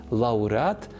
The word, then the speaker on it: лауреат: вам більше до вподоби лауреат або лавреат обидва варіанти правильні насамкінець лише додам Дбаємо